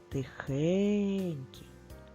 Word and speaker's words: тихенький: хень скільки складів три поставимо наголос покличемо слово тихенький наголос на звук е та букву Е Вони знаходяться в якому складі в другому молоці а